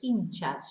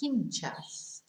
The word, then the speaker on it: hinchas: the fans las inchas remember we don't pronounce the h so it's in chats not hinchas and then the most